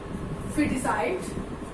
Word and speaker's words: foeticide: That's why it will be pronounced biscuit. Second example, feticide.